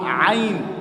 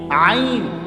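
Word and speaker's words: ع: আইন। তো আমরা আইন এটা শিখতে হইব না? এটা হলকের মাঝখান দিয়ে কেমনে উচ্চারণ করতে হয় এটা শিখতে হবে না আপনাকে?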